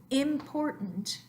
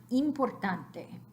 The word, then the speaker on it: importante: happens in Spanish so instead of important we want importante so it is correct in English it important but we don't want to transfer that to importante we want e importante so try these words